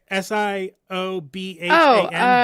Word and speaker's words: Siobhan: S I O B H A N.